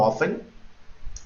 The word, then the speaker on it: often: Miren, how many, cuántos, what, qué, how often, no often, no se pronuncia la F, es how often, la T no se pronuncia, con qué frecuencia o cada qué tiempo, where, dónde, who, quién, what time, a qué hora.